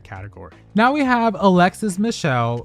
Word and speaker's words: Michelle: Now we have Alexis Michelle whose last name rhymes with hell.